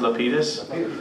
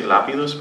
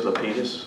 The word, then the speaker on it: Lapidus: Yeah, and my name is actually pronounced Lapidus. In Cuba, there's an accent on the A, so they say Lapidus, but I grew up in Brooklyn, so we say Lapidus.